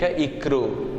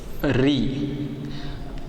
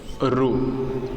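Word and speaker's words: ऋ: Some students pronounce this letter wrongly, like a ikru. This is not a ikru. The proper pronunciation of this letter is Ri. Another one pronunciation is Ru.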